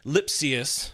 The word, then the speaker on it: Lipcius: the show the Dodgers pick up infielder Andre lipus that is how you pronounce it had to look that one up